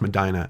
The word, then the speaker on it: Medina: Actually, I think it's pronounced Medina out here, where the couple was building a home.